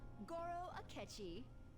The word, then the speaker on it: Goro Akechi: It's the high school detective, Goro Akechi.